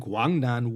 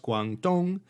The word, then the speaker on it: Guangdong: the guangnang east and guangdong west circuits east is pronounced dong and west is she that's where we get guangdong and guangxi from this appalachian given